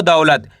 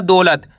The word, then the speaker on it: दौलत: इस तरीके से पढ़ना है आपको दौलत। ऐसे नहीं पढ़ना दौलत। अगर आप दौलत पढ़ोगे तो ओ की मात्रा का उच्चारण हो जाएगा। आपको करने के औ करके इसका उच्चारण निकालना है।